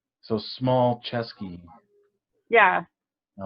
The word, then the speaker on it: Smulczeski: your last name um you say it like small chesky and you spell it